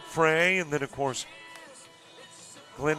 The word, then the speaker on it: Frey: Got a coach friend that his last name is F R E Y and pronounces it Fry.